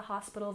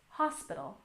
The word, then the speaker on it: hospital: And hospital, stress on the first syllable. Hospital, hospital.